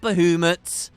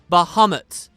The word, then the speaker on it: Bahamut: Am I saying it right now? Not Bahamut. Bahamut.